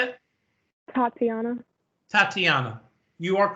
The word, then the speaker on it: Tatiana: Tatiana.